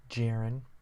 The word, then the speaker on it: Jeran: going to be bringing you my series versus Jaron which is weird because it's my little brother's name not spelled that way but pronounced how I just did but anyway um